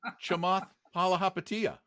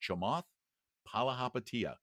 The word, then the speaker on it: Chamath Palihapitiya: Oh, you're talking about Chamath Palihapitiya.